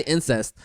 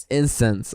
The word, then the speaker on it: incense: That's how you say it, right? Incense? I feel like I always say incest. I don't know why. Incense.